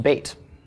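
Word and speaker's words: בית: things it's in the contract stage so it's pronounced bait okay Batum means House of bread and that's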